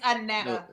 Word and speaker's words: Anetta: so is it Anita or Anetta? What is it? It's Anetta. Okay. I thought it was okay. Yeah, Anetta. you were saying it right.